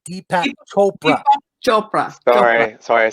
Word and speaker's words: Chopra: Deepak Chopra.